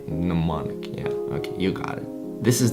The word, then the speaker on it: mnemonic: mnemonic induce lucid dream n is silent in that one mnemonic mnemonic okay you got this